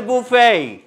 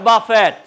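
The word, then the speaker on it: buffet: সবাই শুনেছে বুফেই এই বদলুকের আসল নাম হচ্ছে বুফেই নট বাফেট অলরাইট আপনি যেটা বলেছেন আপনি সঠিক নামটাই জেনেছেন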